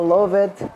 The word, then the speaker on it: loved: Que no loved já tem um nome, já tem uma pronúncia com ed no final.